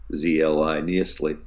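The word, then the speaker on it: Nyiszli: john where uh this miklos neisley i know how to pronounce this n-y-i-s-z-l-i neasley uh was like the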